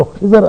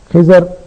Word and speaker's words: خضر: موسیٰ علیہ السلام اور خضر علیہ السلام کے قصے کا تھا۔ خضر جس کا درست تلفظ خضر ہے عربی کے اعتبار سے، ہم اردو میں اس کو خضر کہہ دیتے ہیں، تو خضر اور موسیٰ